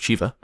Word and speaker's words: Shivah: Well, I hope everyone enjoyed my playthrough of The Shivah. Apparently it's not Shiva. At least Stone pronounced it Shiva.